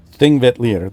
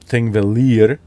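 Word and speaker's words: Þingvellir: But you're not going to pronounce it Thingvellir, but Thingvellir. There's always some kind of D or T before the L's.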